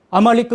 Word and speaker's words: 아말리크: 왜 그러냐면, 아말리크 그래가지고, 아자는 묵음이거든요.